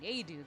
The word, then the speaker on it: Nadeau: But like if you were pronouncing it in the traditional French way, it would be, I don't even know anymore. Nadeau. The French Canadian way is apparently Nadeau though, so it's like, damn.